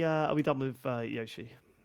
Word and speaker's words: Yoshi: Um so generally generally Americans will say Yoshi. Americans say Yoshi, but it's Yoshi.